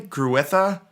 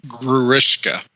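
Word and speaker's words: Grewishka: I don't know if we're going to touch upon this later, but the that last battle almost felt like how do you say Gruitha? It's Gruishka. Gruishka.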